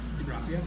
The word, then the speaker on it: De Gracia: d-e -gr AC AC I pronounce that De Gracia good not bad my